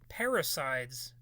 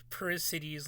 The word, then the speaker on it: parricide: Parricides. Okay, so what is that? The killing of one's father. I, I pronounced it like parricides, like it's a freaking god or something. Parricide, okay.